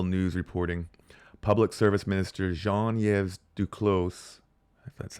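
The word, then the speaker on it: Jean-Yves Duclos: we've got Rebel news reporting Public Service Minister Jean yv Duclos that's how you say it says the new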